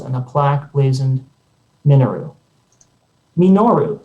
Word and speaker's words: Minoru: Minoru, says my mother, de-emphasizing the expected syllable as if the word were Japanese.